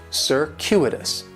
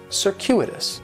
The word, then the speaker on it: circuitous: the stress is going to be on that second syllable and that Cu is it's kind of like you're saying the letter Q circuitous circuitous and circuitous is talking